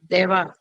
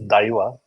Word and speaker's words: Daiva: South we pronounce it as I and not as A. In Okay. Hindi we pronounce it as A, that matra. Okay. So this is Daiva.